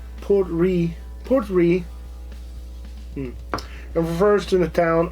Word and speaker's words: Port Ruighe: The name Port Ruighe is pronounced Portry, and refers to the town of Portry, a port and the largest town on the Isle of Skye.